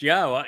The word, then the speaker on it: Yahweh: And um and here is the evidence that Yahweh's name is pronounced Yahweh.